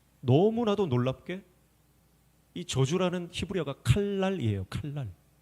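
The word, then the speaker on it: קלל: 칼랄. 칼랄인데 그냥 칼날 칼날 같은 발음이에요. 여러분 저주는 칼날입니다.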